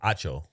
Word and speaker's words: Acho: Acho.